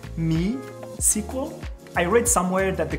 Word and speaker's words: MySQL: I think it's pronounced me SQL I read somewhere that the creator of database has two girls one is me and the other one is Mariah so I think it's actually me sequel not my sequel anyways